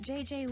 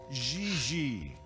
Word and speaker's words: Gigi: pronounce G like J and J like G. She may very well be JJ in America, but in France, she is Gigi.